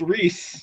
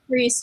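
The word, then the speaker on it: Rhys: so it's farra and apparently Ryan is Reese Reese I'm cool with that Reese just think of Reese's Pieces I'm cool with that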